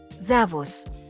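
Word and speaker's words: Servus: In this case, S takes the pronunciation Z. Zavos. Once again, zavos.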